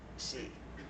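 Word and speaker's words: Chejfec: I can't pronounce it correct. He's Argentinian. Chechvek. Oh, like from the... Chejec is his name.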